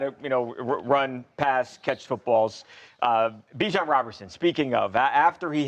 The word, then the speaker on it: Bijan: And, well, I didn't know that Bijan, which rhymes with Dijon, he's got his own mustard.